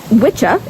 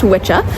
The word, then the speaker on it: wicca: But wikah or witchah is how it's originally pronounced. W I CCA is a old English word um old Anglo-Saxon word that is pronounced witchah which means a male sorcerer or someone who bends